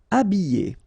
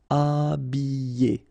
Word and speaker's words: habiller: Habiller. Okay, remember E, double L, and then a vowel, Y. Habiller. H is not pronounced. Habiller.